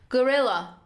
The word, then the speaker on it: gorilla: leopard topography d gorilla gorilla grill stresses on the second syllable gorilla gorillas rarely drink water